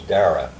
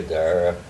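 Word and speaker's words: Darraugh: He was an ancestral uncle, and he was First Lieutenant Charles Dara. It's an Irish name, D-A-R-R-A-U-G-H. Oh. Right? You can eliminate the U in later pronunciation or spelling of it.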